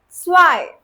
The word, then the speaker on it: zwei: So one thing you have to remember, whenever EI is written together in a word, the pronunciation will always be of I, the English I.